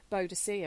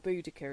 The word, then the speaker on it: Boudica: Their history, when you look at people like Boadicea, or Boudica, it was actually meant to be pronounced, who fought against the